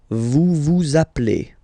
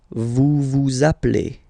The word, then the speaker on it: vous appelez: Okay, then vous appelez. Vous appelez. Okay, so you can hear we put the little link again here.